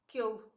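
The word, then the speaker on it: que ele: So this happens, one example would be, so if the E dropped out of K and you have an il afterwards, you have two vowels. One you don't even pronounce, the other one is exactly the same. And even if it were, it doesn't matter. What happens is kill. I'm not going to pronounce il. It's too robotic. It takes a lot of effort. It's just quicker, more practical. So kill.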